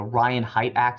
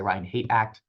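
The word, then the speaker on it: Ryan Haight Act: that's the it's the Ryan height act some people say Ryan hate act I I call I think it's pronounced Ryan height act but someone will tell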